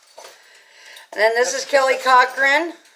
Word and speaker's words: Cochran: I'm going to mispronounce names. Let me see. Well, it's C-O-C-H... R-A-N. What's that? Cochran?